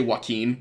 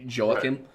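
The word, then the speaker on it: Jehoiakim: I keep wanting to say Joaquin, like Joaquin Phoenix, but I know that's not it. It's closer to like Joachim.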